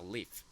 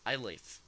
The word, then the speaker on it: live: solita con la consonante se pronuncia como una I, por así decirlo, corta. ¿Ok? Entonces está live, live, I live.